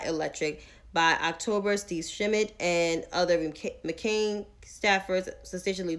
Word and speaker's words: Schmidt: why she got that smoke for steve um shimmit i keep messing up his name wrong steve schmidt there we go steve schmidt z smith don't